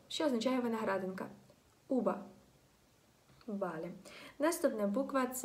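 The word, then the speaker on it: uva: Вона вимовляється між звуком б і між звуком в, але вона вимовляється з дуже розслабленими губами.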